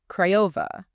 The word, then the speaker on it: Craiova: Craiova, pronounced Craiova.